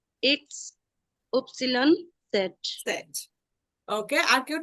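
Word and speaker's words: Ypsilon: আর একটা হচ্ছে উপসিলন।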